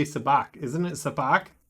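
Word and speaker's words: Sabacc: Isn't it Sabak? Sabak, yeah.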